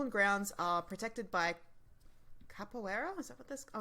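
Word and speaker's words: Caipora: capibarus do you mean no it's c-a-i-p-o-r-a yeah it sounds like capoeira yeah that's how i've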